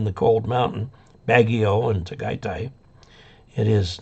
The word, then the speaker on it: Tagaytay: I'm not sure where Tagaytay is. And I believe that's the correct pronunciation. AY is pronounced I in Tagalog.